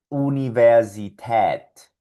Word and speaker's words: Universität: Por lo tanto, esta A umlaut produce el sonido de una forma de A con tu boca, pero un sonido de E con tu tracto vocal y suena de la siguiente forma. A, A. Mira mi boca como A y desde aquí va a salir una E. A, A. Por lo tanto, estas palabras sonarían Mädchen, Käse, Universität.